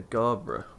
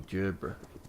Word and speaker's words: Gerbera: So we've got a daisy, Provence rose, a Shasta daisy, a Marguerite daisy, and a Gabra daisy, or Gerbera, depending how you say it.